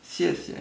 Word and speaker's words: 谢谢: So, as the sound already says, 谢谢 is 2 times the same character. First time it's pronounced in the 4th tone, the second a neutral tone, but that's only because it comes right after each other.